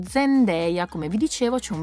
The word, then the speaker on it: Zendaya: ho spoilerato tantissimo e si chiama zendeya No non Zenda come tanti state dicendo zendeya Come vi dicevo C'è